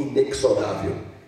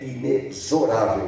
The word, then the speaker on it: inexorável: Ele pronunciou inexorável. E a pronúncia certa é inexorável.